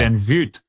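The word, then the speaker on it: Van Vugt: Well, it's a Dutch. He's Australian, but it's a Dutch last name. Okay. It's Van Voot.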